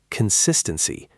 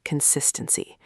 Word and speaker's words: consistency: But first, let's do a short pronunciation challenge with the word consistency. This is a tricky one because it has many syllables. Let's break the word down together. Repeat after me. Con-sis-ten-cy.